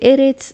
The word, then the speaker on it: ארץ: Aquí dice Eretz Mitzrayim. Eretz quiere decir tierra.